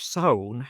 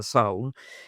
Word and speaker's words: sauna: We have a Friday village sauna in Finland. It's the sauna, or I called it English a sauna, but that's mispronounced. The sauna in Finland, the sauna here.